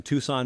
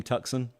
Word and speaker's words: Tucson: He is from Tucson, Arizona. Fascinates me that we don't pronounce that name Tucson.